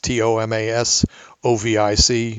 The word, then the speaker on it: Tomasovic: It's Tomasovic, just the way it sounds.